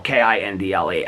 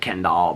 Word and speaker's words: Kindle: K I N D L E. I know I say it like Kendall, but it's Kindle.